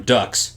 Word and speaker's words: Dux: I call him Ducks. Yeah. Not Dukes, but Ducks.